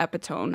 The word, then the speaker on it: epitome: I think it looks like epitome, but it's pronounced epitome.